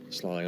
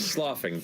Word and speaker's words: sloughing: this slug mass dislodges, slawing off and kind of remaining. Off. Damn it, Matt. Sloughing off. Sloughing off. Sloughing, as I've learned to pronounce it properly.